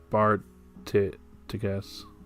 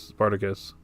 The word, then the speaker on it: Spartacus: The Darth Sparticus. I think that's Spartacus. That's how you pronounce the name.